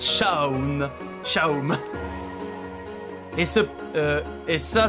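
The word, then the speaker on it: Seam: de toi je m'appelle mais ça se prononce chaw chao est ce et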